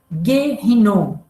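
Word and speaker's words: Ge Hinnom: baixava a enrol veja em hebraico é vale de rinon é se pronuncia guerrinon é uma frase que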